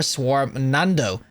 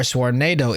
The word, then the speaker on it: Swarmnado: Full charged heavy attacks create a flaming quicksilver swarm nando. Or Swarmnado, if you could read properly. I just like phonetically said that. Swarmnado is what they were going for.